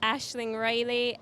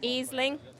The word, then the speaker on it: Ashling Reilly: Again, her last name is pronounced McMahon. Okay. And then you have Ashling Reilly from Antrim, County Antrim. But I know a lot of people over here call her Aisling.